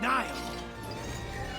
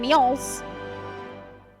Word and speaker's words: Niles: We have to stop Marin and Niles. Oh, Niles is how you say it. I've been saying Neil's.